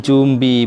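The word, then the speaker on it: 準備: Kok tadi saya membacanya jumbi budes ya, dari N-nya saya baca M.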